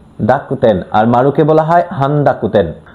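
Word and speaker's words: 濁点: তেনতেন এবং মারুকে জাপানিজের তেনতেনকে বলা হয় দাকতেন। ডাকুতেন।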